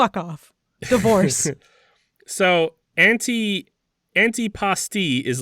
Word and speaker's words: antipasti: Because people al like frequently call it antipasta. Oh, well, they're wrong. It's not. It's It's not antipasta.